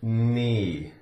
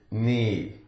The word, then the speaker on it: knee: As in the word knee. Knee. The K is silent.